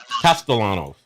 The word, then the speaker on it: Castellanos: This quarterback with Florida State, pronounce his name, DC. Tommy Costalanos. Costalanos. Costalanos. Castellanos.